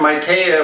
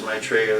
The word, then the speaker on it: Maitreya: Yeah, Maitreya or Maitreya, depending on how you pronounce it. The Sanskrit translation is Maitreya, the Pali is Maitreya.